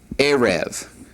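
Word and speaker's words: ערב: All right, the word for evening is pronounced erev. Erev. Notice the accents on the ayin there.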